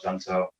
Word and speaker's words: Junto: get asked a lot how do you pronounce junto and so we don't really care you can pronounce however you want it's it's a spanish word means to get there and it's also portuguese some people call it gento and so you know